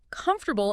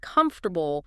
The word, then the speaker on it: comfortable: I remember a student who always stressed the wrong syllable in comfortable instead of comfortable, small thing, but it sounded awkward.